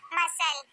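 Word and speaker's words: muscle: अब हमारा आएगा एस सी एल ई, इसमें सी को नहीं पढ़ा जाता, जैसे मसल, इसमें हम सी को नहीं पढ़ रहे हैं।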